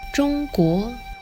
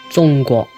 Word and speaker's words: 中国: In Mandarin it's pronounced 中国 with a high flat tone and a rising tone. And in Cantonese it's pronounced 中国 with a high flat tone and a mid-flat tone.